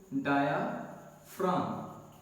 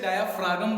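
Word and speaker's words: diaphragm: क्या कहते हैं उसको, डायाफ्राम। अब कई लोग इसे डायाफ्रागम बोलते हैं, तो फ्रागम नहीं बोलना, डायाफ्राम बोलना आपने, ठीक है जी। प्रोनाउंस सही कीजिए, डायाफ्राम।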